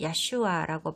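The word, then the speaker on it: ישוע: 예수의 히브리어 이름은 야슈아라고 발음하는데 그 뜻은 하나님이 구원하신다입니다.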